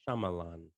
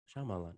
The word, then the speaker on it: Shyamalan: Shyamalan. Shyamalan.